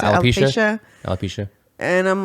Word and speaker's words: alopecia: How do you pronounce it? Alopecia.